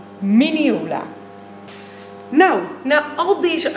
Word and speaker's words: minneola: Dit is een miniola. En geen menola of meonalia. Ik weet niet wat ik allemaal al heb gehoord, maar een miniola.